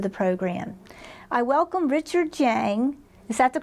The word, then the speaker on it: Jiang: I welcome Richard Jiang. Is that the correct pronunciation?